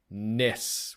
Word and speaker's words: NES: the answer in quotes Ness with almost like an emphasis on the S so it's n e